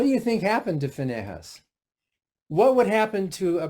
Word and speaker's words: Phinehas: So, in fact, some translations of the Bible pronounce it Phinehas, P-I-N-E-H-A-S. You might see it both ways. Usually it's Phinehas, who was of the priestly tribe.